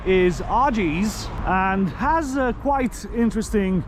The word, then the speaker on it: Oggy's: Right, the correct pronunciation of this pub is Argy's.